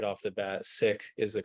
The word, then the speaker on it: Sikh: as preferred by the Sick Community is sick s-i-k-h almost pronounced like the word sick but with a hard Asia at the end so sick there are some people who say Seek uh but that is